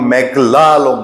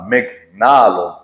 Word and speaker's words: মেঘনা আলম: বলেছে জোরে সোরে যে আমার নাম মেঘলা আলম না মেঘনা আলম নামটা ঠিকমত উচ্চারণ করতে বলেছে দেখেন কোর্টে এই ঘটনা